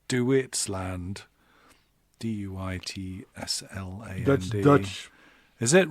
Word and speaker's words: Duitsland: Almost like they say Deutschland. It's Duitsland.